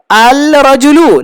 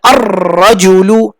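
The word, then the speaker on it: الرَّجُلُ: আল রাজুলু, না আল রাজুলু বলা মুশকিল, এই জন্য আর রাজুলু, আর রাজুলু।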